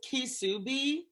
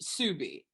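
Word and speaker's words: Ksubi: this is a ca i think it's kisubi or oh no sorry it's pronounced subi subie that is the this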